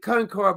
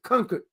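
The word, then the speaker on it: Concord: then we went through I was calling it Concard but it says conquered. It's not Concard. The people who's not from there called it Kard. They told us it's pronounced conquered.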